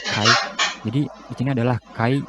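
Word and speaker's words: χ: Huruf X ini tulisannya adalah C, dibacanya adalah Kai.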